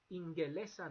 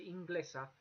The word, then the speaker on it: Ingelesa: You'll notice that the G before the E there, it's not pronounced anything like the Spanish G. It's like an English G all the time. Always a hard G. Ingelesa nice, and you have to have that E between. You can't say Inglesa because Basque doesn't like that.